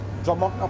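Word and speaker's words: Druimuachdar: the individual makes it here we are here dramata pass there it is drama that's how it's pronounced it's the highest point in the rail work.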